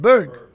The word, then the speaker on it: Berg: aasan di B how do you say it Berg B the Berg Hospitality Group the Berg Hospitality